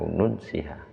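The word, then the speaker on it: نُنسِها: A nansaha ini kalau di punya sampean naskahnya mungkin kalau di qiraah masyhurnya itu au nunsiha gitu bacanya. A nunsiha.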